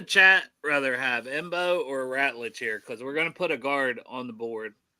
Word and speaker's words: Ratledge: Yeah, I was saying the name wrong. It's Ratledge.